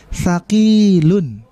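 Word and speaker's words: ثقيل: Yang panjang itu di ki-nya. Thaqilun. Jadi bukan kita baca thaqilun, bukan kita baca pendek semua thaqilun, tetapi kita lihat di sini mumpung masih ada harokatnya, thaqilun.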